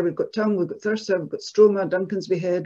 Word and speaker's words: Thurso: The interesting thing about Thurso in the north of Scotland is that folk memory has clearly remembered the original pronunciation because people in Thurso call it Thursa, like that, Thursa there.